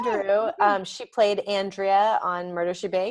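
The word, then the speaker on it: Durupt: Yeah, and then I'm gonna risk saying her name wrong, but Lisa Giroux, I think is how you say it. That's right, Lisa Giroux.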